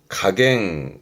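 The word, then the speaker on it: 加減: 발음은 가갱. 각. 가감이라함은 증가의 가짜와 감소의 감자니까 늘어나고 줄어드는 걸 가감이란 말을 하죠.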